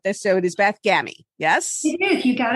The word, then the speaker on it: Gammie: be right about this so it is beth gammy yes he did you got it right all